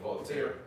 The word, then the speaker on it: Voltaire: Yeah, And even when I was watching the brother from Vegas, he quoted Voltaire, if that's how you pronounce his name. Yeah, Voltaire.